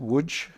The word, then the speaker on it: Łódź: I don't know if I pronounce it properly. Is it Łódź? Łódź, yeah.